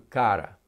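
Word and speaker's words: χαρά: palavra cara bom e é pronunciado o cara apesar de ser mais ou menos uma transliteração da palavra c h a r a mas é pronunciado cara e essa palavra ocorre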